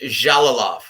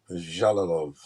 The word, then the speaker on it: Jalolov: Eastern European um dialect it's j so it's pronounced jalolov jalolov Yep this guy's gonna be a monster five